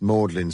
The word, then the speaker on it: Magdalen: Everyone, nearly everyone knows that this is pronounced Mordlin Street, as if it were a sentimental, tearful sort of street.